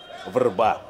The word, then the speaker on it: врба: Славянское ухо легко распознает в слове «вербу», которое в сербском и хорватском языках потеряло «е» и произносится как «врба».